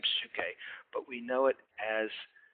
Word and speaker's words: Psyche: This is a transliteration of how to spell Psyche, P-S-Y-C-H-E. P-S-Y-C-H-E. In the Greek pronunciation, you say Psyche, that's the upsilon would be the word there, the letter there.